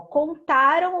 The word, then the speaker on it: contaram: Ó, é isso aqui, o nasal é o som que sai pelo nariz, tá? Então, vai ser exatamente nessa finalização aqui, ó, do AM no final aqui e do AOTIL aqui no cantarão, tá?